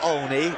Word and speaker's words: Olney: Spelled Olney but pronounced Olney.